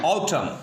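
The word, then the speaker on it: autumn: रहा होगा कि आपको एन लिखा हुआ है लेकिन एन पढ़ा नहीं जाएगा because N इज a silent. N क्या है यहाँ पे? साइलेंट है। तो साइलेंट वर्ड होने की बुनियाद पर यहाँ पे हम एन को नहीं पढ़ेंगे।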